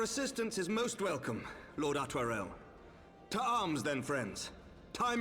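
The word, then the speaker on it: Artoirel: Your assistance is most welcome, Lord Atwarel. To arms, then, friends. Time is against us. Altarel. I would never have pronounced it that way.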